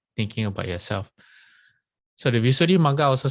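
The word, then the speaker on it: Visuddhimagga: Visuddhi Magga, yes, that's how it's pronounced. Visuddhi Magga.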